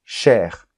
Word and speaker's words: chair: on prononce le S chair on prononce le r la mère on prononce